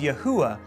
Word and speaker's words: Yahuah: Scriptures and translated into the English equivalent of YHUH, spoken by many as Yahuah, a pronunciation preserved in